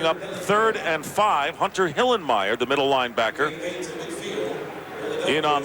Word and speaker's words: Hillenmeyer: i love that guy you gotta say hillenmeyer not hillemeier you can't be lazy in the pronunciation goose it's my kind